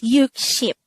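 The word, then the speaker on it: 육십: So 60 or 6 times 10 is actually pronounced as Yuk Ship. So when we say Yuk Ship, it's the same as saying 6 sets of 10.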